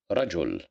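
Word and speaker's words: رجل: Reml Reml as you see here in Rajul which means a man rajul we have fatha so that's why we pronounce it as rajul here we haveman which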